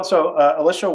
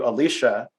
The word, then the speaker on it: Alisha: a little failure where I called you Alisha, and you kindly corrected me and something that it's pronounced Alisha, or however you put it.